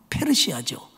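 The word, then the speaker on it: Persia: 정확한 영어 발음은 페르시아죠.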